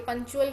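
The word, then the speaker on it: punctual: क्या ध्यान रखना है कि पंक्चुअल की साउंड कैसी होती है उसमें च की साउंड आती है बट हम उसमें टी लिखते हैं ठीक है उसकी साउंड अलग है और स्पेलिंग्स अलग होते हैं इसलिए इसको आपने ध्यान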